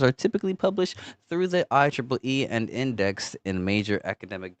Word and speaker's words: IEEE: IEEE, pronounced IEEE. Yeah, thanks, Google. The Institute of Electrical and Electronics Engineers.